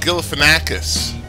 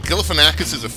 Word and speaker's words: Galifianakis: Oh, Galifianakis. Yeah. I wonder that. It's astonishing me that you can't pronounce it so fast.